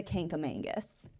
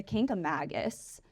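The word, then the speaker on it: Kancamagus: grown up saying the K A Mangus there is no n in there like we're adding in something so it's the king a Magus yeah right okay thank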